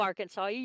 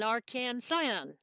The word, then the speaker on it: Arkansan: And if you ever meet an Arkansasier, you don't call them Arkansasier, you call them an Arkansan.